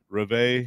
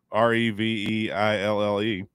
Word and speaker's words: Reveille: Well, their dog Reve. I had no clue what the dog's name was. Yeah, I had no clue. How do you say it? Reveille? Yeah, that sounds better. Reveille.